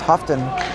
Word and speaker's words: Huffton: Mispronouncing his name. It's Huffton. Charlie Huffton with the penalty as it's down below the goal line.